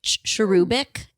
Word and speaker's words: cherubic: You have something a little bit like Victorian looking about you, like cherubic, cherub.